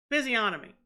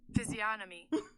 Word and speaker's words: physiognomy: I was trying to look up how to pronounce physiognomy. Y'all hear that? Physiognomy. Physiognomy. It's the G that fucks me up.